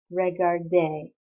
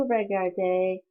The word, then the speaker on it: regardait: And for il, elle, on, it becomes AIT, but pronounced the same way, so il regardait.